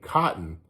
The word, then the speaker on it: cotton: But like the word cotton, Cotton, they say, people in California, we say cotton, and we don't pronounce the T's.